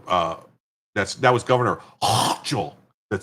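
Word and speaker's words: Hochul: reminds you of uh that's that was Governor Hchel that said that her name I've been told that's how you pronounce her name taxpayer dollars should not subsidize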